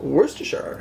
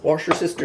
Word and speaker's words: Worcestershire: of Worcestershire sauce and yeah they're still controversy about how to pronounce it even here my favorite pronunciation that I've ever heard was wash your sister sauce I know it sounds weird but that's actually what somebody called it okay then we